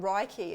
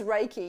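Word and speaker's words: Reiki: I always wrong raiki people call it raiky and sometimes I find myself saying that too as if I'm just trying to to help them feel less embarrassed about saying it wrong but it is raiki if you go into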